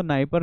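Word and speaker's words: Dnieper: है नाइ परर रिवर यहां नाइ परर है मतलब डी साइलेंट है तो नाइ परर रिवर और भी कुछ-कुछ रिवर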